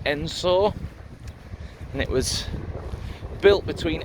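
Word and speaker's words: Edensor: gonna head into the uh little village of ensor so just passed briefly on the edge of a village spell eden saw but pronounced ensor and it was built between 1838 and 1842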